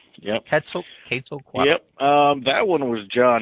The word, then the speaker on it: Quetzalcoatl: What about some of the other hotter ones, including the, go ahead and correct me if I'm wrong in pronouncing this, the Quetzalcoatl? Quetzalcoatl. Yep. Quetzalcoatl.